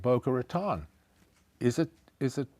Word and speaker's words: Boca Raton: The other day I asked you about the city called Boca Ratan. Is it is it pronounced that way? No, it is not pronounced Boca Raton.